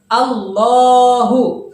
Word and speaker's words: الله: tertidur atau kata yang dari strip seperti itu allohu namun cara bacanya harus dipanjangkan dua harokat ya di sini terlihat tidak panjang namun cara cara penulisannya tidak panjang cara bacanya harus panjang allohu allohu nah seperti itu atau bisa kita tulis